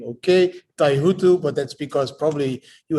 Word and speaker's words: Taihuttu: some time ago you're the first host that pronounces my last name okay taihutu but that's because probably you have some indonesian